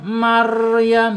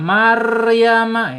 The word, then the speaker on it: Maryam: Marl gitu bukan mar. Maryam gitu. Salah ya kalau bacanya Maryama ya. Salah. Berarti dia tidak mempunyai sifat inkir ya.